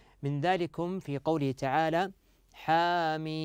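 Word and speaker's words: حم: ذلكم في قوله تعالى حام هكذا تنطق يا ابنائي حامي م م م فصلت فصلت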